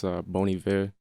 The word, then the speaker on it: Bon Iver: That's Bon Iver, the band.